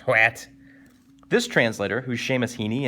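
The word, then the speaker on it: Hwæt: about one word what i believe is how that's pronounced hwat this translator who's sheamus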